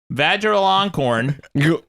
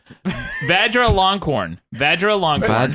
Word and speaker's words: Vajiralongkorn: She said, it says here, the diploma was handed to her by King Maha Vajiralongkorn. Hold up. Drabi. Say that again. Did I hear something? Vajiralongkorn.